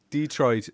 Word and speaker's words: Detroit: So I'm in Detroit, as they put the emphasis on the other syllable. I love it. Detroit. Detroit.